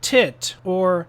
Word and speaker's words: Titor: Morrie stated the tit or is teat, although I say tit.